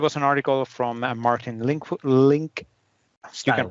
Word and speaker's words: Linkstyle: Then there was an article from Martin Link. Style. You can pronounce that. Linkstyle. That's a Dutch way of pronouncing it. Yes, it is, because he is Dutch.